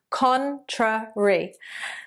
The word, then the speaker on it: contrary: Contrary. So 3 syllables there.